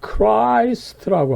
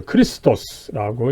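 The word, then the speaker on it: Χριστός: 이 그리스도 영어에서는 Christ라고 하지만은 독어에서는 오히려 크리스토스라고 이제 또 발음을 하고 있죠. 그랬을 때 아무쪼록 이 크라이스트는 또 조금 이 나쁜 식으로 이 발전한 이 발음법이다, 그죠? 그랬을 때 이 그리스 헬라어 원어는 이 CH가 원래 X로 이렇게 표시가 되죠.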